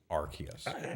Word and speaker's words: Arceus: i think it's arceus no because you don't want to stick it up your arse or something like he he always pronounced it as ours to be like how does mark pronounce it it is arceus then i'm that's how mark pronounces that's how he wants to pronounce it but i believe the correct way is arceus but just say it